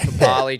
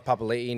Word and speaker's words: Papali'i: Or Josh Papali, Josh Papali'i now. It's like it's hard to remember to call him. Yeah, it's actually pronounced. Like I'm actually all right with the Papali'i one.